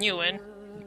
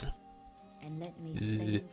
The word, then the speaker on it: Nguyen: It's Nguyen. Not Nguyen, Christ sakes. Nguyen. Yeah, why do you spell it like that? Spell like it's just new not that yen.